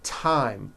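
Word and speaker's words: thyme: Although these next words and names are spelled with a thron if they were spelled with a normal t like that. And these words are Thomas, Thompson, Teresa, Thailand, Tames, like the river, Esther, and time, which is a spice.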